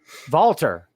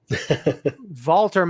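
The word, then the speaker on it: Walter: i love this feud vaulter and i will say it the way nigel mcginnis pronounces it because i love it valtter makes an impact i love this guy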